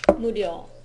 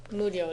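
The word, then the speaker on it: 無料: Murio? Muryo desu.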